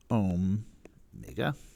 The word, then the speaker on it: omega: that is spelled right it's omega but it's pronounced om mega and i kid you not that's why that